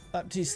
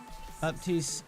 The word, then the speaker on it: Baptiste: character himself says another baptist pronounces it pronounces the p does that please have